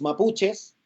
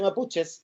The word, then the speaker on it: mapuche: alguien desea porque los mapuches y la claro quitó que era una de las actrices decía ojo no se dice mapuches se dice mapuche cachai y que es una